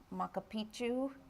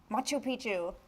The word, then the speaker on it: Machu Picchu: Mr Ganesh is going to tell me I pronounce it wrong makapichu Machu Picchu thank you they both do visit that which